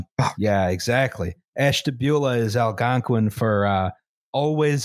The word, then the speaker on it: Ashtabula: the cleveland paynesville and ashtabula railroads bridge yeah talk about bonesville baby ashtabula river no we're talking about ashtabula which i which i again in my mispronunciation thing thought was ash tabula no listen i'm just